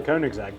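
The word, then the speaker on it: Koenigsegg: Kunig. How do you pronounce it? I say Koig's egg.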